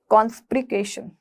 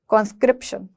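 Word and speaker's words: conscription: जबरदस्ती भर्ती करने वाले को हम बोलते हैं कॉन्स्प्रिकेशन। क्या? कॉन्स्क्रिप्शन, कॉन्स्क्रिप्शन।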